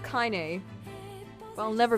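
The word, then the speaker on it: Kainé: Hey, Kanye. I call her Kanye, but apparently it's pronounced Kyn.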